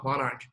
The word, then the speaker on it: monarch: 如果后面这个可不要发出来啊，Monarch。